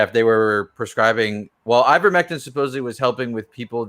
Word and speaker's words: ivermectin: specific drugs z-packs uh i how do you pronounce that i i grew uh i vermectin ivermectin right yeah individuals were utilizing i don't